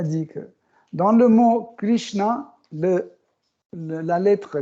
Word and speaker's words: Krishna: savent que, en fait, on dit Krishna. Il y a un H à la fin. Mais la plupart des gens qui n'arrivent pas à prononcer ça, ils disent Krishna. Mais à la fin, on a un H, Krishna. C'est difficile pour prononcer, mais cette lettre existe, Krishna, et qui veut dire Nara Narayana Rishi.